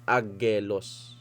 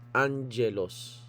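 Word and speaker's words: ἄγγελος: Sa pronunciation, kapag ang dalawang gamma ay magkatabi, ang pronounce mo sa kanya ay ng. Halimbawa ito ah alpha, gamma, gamma, epsilon, lambda, omricon and then sigma. Hindi mo basa diyan angelos sa agag ang dalawang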